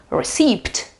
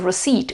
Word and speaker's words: receipt: it is uh written, we could imagine it could be pronounced receipt or something like that. Well, it's it's not. It's a receipt.